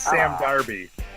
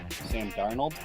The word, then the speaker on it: Sam Darnold: I said Sam Darby. Sam Darby for Heisman. Sam Darnold?